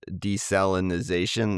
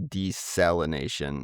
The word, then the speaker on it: desalination: the in the Gulf desalinization that's what I the word I've been using but it's actually desalination I I've been putting an extra syllable in there.